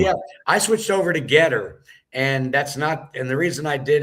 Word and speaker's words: GETTR: the most effective on Getter. So if anyone is on Getter, that's spelled GETTR, and it'll be at John